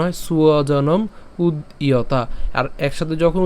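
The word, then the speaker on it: স্বজনম্: কেন সুয়জন? এখানে আমাদের কি ব আছে? অন্তস্থ ব আছে, আর অন্তস্থ বয়ের উচ্চারণ কার মতো হয়? উয়োর মতো হয়। তার মানে সেজন্য হচ্ছে আমরা কি উচ্চারণ করবো? সুয়জনম, হ্যাঁ, সুয়জনম, অর্থাৎ বর্গীয়াজ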